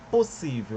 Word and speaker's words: possível: Possível, eu pronuncio P, o, possível. Esse SS aqui é uma coisa que nós vamos chamar de dígrafo. Por que dígrafo? São duas letras para um som só. Bom? Então é como o SS fizesse o som de um S só.